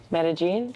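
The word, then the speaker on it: Medellín: Pronouncing Medellin. Medellin.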